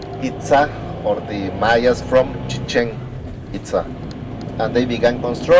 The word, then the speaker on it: Chichen Itza: not chicken pizza like Americans say. It's Chichen Itza. 3 words together.